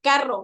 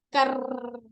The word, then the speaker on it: carro: Por ejemplo, si dice carro, voy a decir carro, no decir carro. No, hay personas que no pueden pronunciar bien la doble R.